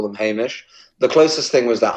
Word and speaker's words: Hamish: So Hamish, am I saying it right? You are actually. I get a lot of Hamish? It's an unusual name. It's Hamish. It's Scottish. It's also in Scotland they'd